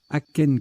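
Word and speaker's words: akène: Aken qui s'écrit A-K-E-N-E ou A-C-H-A-I-N-E ou A-C-H-E-N-E, avec un accent grave sur le E le cas échéant.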